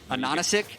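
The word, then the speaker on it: Ananasik: name is spelled A-H-A-H-A Anonisic, yeah, it's because the capital H's are meant to be N's, which is Anonisic, which is pineapple in German.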